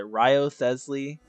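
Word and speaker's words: Wriothesley: __ ] pronounce it Ryo thesly r w r i o t h e s l e y like Wesley but with with a like it's like Wesley but they put Rios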